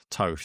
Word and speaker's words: Toth: Is it Toth or Tooth, if I'm pronouncing that Toth. correct? Toth, there you go.